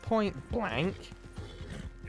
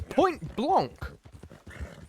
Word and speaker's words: Point Blanc: It's Point Blanc. It's spelled B-L-A-N-C. It's Blanc. It's not point blank.